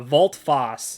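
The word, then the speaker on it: volte-face: one action left uh vault foss that is how you pronounce it um if you don't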